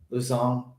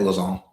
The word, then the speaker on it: Lausanne: This is where they're gonna crest this climb and then head down into the valley of Luzon. Is that how you say it? Lausanne.